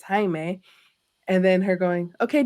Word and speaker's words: Jaime: person pronouncing his name calling him Jamie him correcting that person saying it's Jaime and then her going